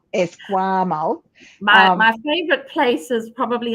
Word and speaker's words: Esquimalt: Esquimalt. Esquimalt.